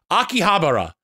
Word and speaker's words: Akihabara: do you pronounce that I heard one person pronounce it incorrectly and it's stuck with me ever since Akihabara Bingo walro walrus thank you for the tier